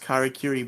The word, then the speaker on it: Karakuri: So to actually address that, I believe it is pronounced Karakuri Ball.